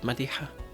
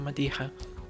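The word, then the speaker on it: Madija: And also don't forget to subscribe to my music channel on YouTube, Madikha. And that's how you pronounce it. M A D I J A. Madha. It's the Spanish spelling of my name, basically.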